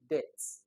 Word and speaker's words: debt: Debt. Okay, it's pronounced as D-E-A-T-H. Debt. So not debt. When you now say debt, you force B to show up, which is not supposed to be.